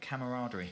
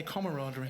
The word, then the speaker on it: camaraderie: a lot camaraderie yeah I can't even say it I say it wrong I say camaraderie well you're saying it wrong it's camaraderie so that's veryy exciting I